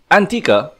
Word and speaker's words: L'Antica: Antica... Yes, the "L"is silent for those of you who don't know comprising of Tsukioka Kogane, Shirase Sakuya, Mitsumine Yuika, Tanaka Mamimi and Yuukoku Kiriko.